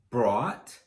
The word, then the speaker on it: brought: With bring, we just add the R sound to bought. So we have bring, brought, brought.